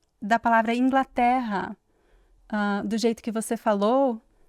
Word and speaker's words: Inglaterra: Nós dizemos o A mais aberto, né? Especialmente nessa palavra Inglaterra.